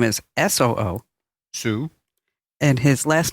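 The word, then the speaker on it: Soo: better because the guy's name, let me just spell it for you. His first name is D-O-O. Do. His middle name is S-O-O. Sue.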